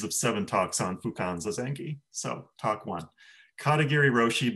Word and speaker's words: zazen: refinements for example is i'm starting to try to pronounce zazen as katagiri roshi pronounced it so it's in in the early recordings i say zaza and now i'm trying